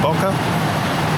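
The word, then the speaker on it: bokeh: bit of discussion about how to pronounce Boke or boka I'm Japanese and there a work called B which is kind of like Blurry and it's called B so I imagine it's coming from Japanese so I'll vote for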